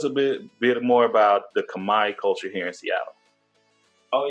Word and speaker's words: Khmer: I've seen the word Kamae and I always said Khmer, and I'm like, am I saying it right? Is it Kamae? It's Kamae. You're saying it good.